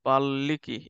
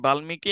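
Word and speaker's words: বাল্মীকি: বাল্লিকী এটার উচ্চারণটা কি বাল্মিকি নাকি বাল্লিকী কে পারবা উচ্চারণ হচ্ছে হ্যাঁ যখন হচ্ছে এরকম যখন হচ্ছে একটা ওয়ার্ডের সাথে আরেকটা ওয়ার্ড সংযুক্ত থাকবে বিশেষ করে ম তখন হচ্ছে প্রথম ওয়ার্ডটাই দুইবার উচ্চারণ করবা ঠিক আছে যেমন হচ্ছে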